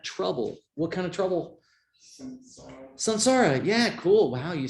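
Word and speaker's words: saṃsāra: it which means that the nasal is pronounced with the same part of the mouth as the following consonant so technically it should be sansara but don't go around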